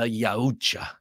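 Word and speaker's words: Yautja: for the pronunciation and sort of like Japanese you pronounce every letter so it's the yacha uh perfect for hunting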